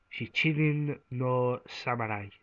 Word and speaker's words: Shichinin no Samurai: Uh, it's roughly translated in Japanese as Shichinin no Samurai. I think I've pronounced that correctly.